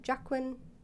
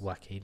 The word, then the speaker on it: Joaquin: Jacqueline Phoenix. Is that what it is? Joaquin Phoenix. Joaquin. Joaquin Phoenix. Yeah, I always get it wrong.